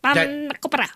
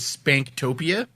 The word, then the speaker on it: spanakopita: Oh my God, spanakopita. No, I just say that because it's good. It's good to say spanakopita.